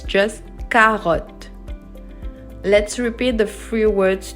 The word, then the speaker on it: carotte: We say carotte, okay? I did not say carotte. I did not pronounce the E at the end. It's silent. So it's just carotte.